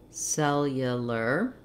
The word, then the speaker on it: cellular: i would suggest one break it down syllable by syllable saying it slowly and speeding it back up that would sound like cell yeah ler cellular cellular another would be to